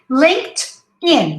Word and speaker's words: LinkedIn: regular verbs in english we say linked just like here let me write down linked this is the correct sound linked in so link sorry link tin linkedin okay linkedin linkedin detroit if you